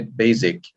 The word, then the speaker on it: basic: okay comparison and for words like basic it's uh s not z you say basic okay it's basic it's